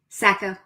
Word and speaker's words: Sacco: Sacco? Sacco. Sacco. Okay. There's a river in New Hampshire called the Saco that's spelled basically the same, so I wasn't sure how to do that.